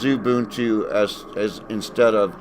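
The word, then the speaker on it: Xubuntu: u n Tu but the x is uh pronounced like a z here in uh the states anyway in English kind of like xylophone where xylophone is XY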